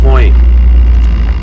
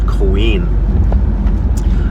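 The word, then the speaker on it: Coín: to the market okay our local large town is called uh coin at least it's spelt coin c o i n but there's an accent over the eye which means that the emphasis is on that particular syllable so its actual name is queen and it's not it's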